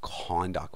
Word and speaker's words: conduct: That is pronounced conduct with stress on the first part.